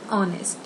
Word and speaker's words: honest: But here I have used an honest, an hour, an honorable. And here a hen, a herd, a horse. Reason? What is the reason behind it? Because in honest, H is silent.